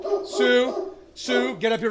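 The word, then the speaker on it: Sioux: buddy and it's name it's Sue spelled like the Indian tribe so SI I yeah right there s i o u x uh when I was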